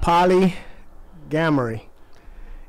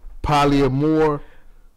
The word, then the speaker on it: polyamory: It's called polygamory. And no, pronounce it again. I didn't say not it right. gamory. No, ain't no G in that. Polyamory.